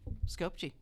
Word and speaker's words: Skopje: And it's out of, okay, if you've been there, how do you pronounce Skopje. Skopje.